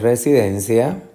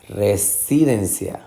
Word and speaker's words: residencia: es la sílaba tónica vamos a tratar de identificar residencia residencia residencia resistencia o residencia su residencia residencia residencia o residencia espero que entiendan que den es la sílaba tónica res y d y